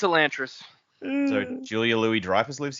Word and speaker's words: Elantris: Also, even the title is uh apparently it's technically pronounced Elantress. Oh no, no. What? No, it's it's a Lantress.